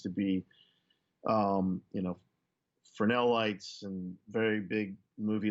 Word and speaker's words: Fresnel: And it's just, you hear people, Fresnel, Fresnel. And I'm just like, that's not how it's said.